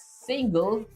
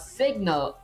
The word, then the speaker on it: single: Next up, uh trigger line trace is pronounced as single, not signal.